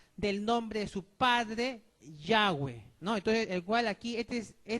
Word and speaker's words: Yahweh: Entonces, por eso aquí entonces se debe pronunciar en la otra forma, como suena esa letra hebrea. ¿Ya? En este caso aquí es Yahweh, como está aquí en